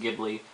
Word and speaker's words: Ghibli: I pronounce it Ghibli. I've heard it pronounced Ghibli, whichever you prefer.